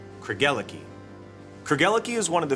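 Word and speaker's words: Craigellachie: Think of it as a love story. Craig fell for Ella, who gave her the key to his heart. Craig, Ella, Key. Kergeliki.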